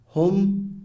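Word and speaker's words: هم: It's important to note that Arab grammarians consider pronouns, for example, he, pronounced huwa, she, pronounced hiya, they, pronounced hum or hunna.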